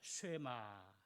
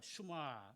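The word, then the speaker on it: שמע: 쉐마 이렇게 시작이 됩니다. 혹은 뭐 슈마 발음이 조금 틀립니다만은 이 기본형이 샤마인데요.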